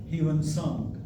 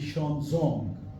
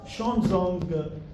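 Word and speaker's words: Xuanzang: Chinese pilgrim, in the past we call him Huan Sang, but this pronunciation is incorrect. Now, in last 5-6 years, the exact pronunciation of Huan Sang is now very clearly notable to us, and that is the Xuanzong.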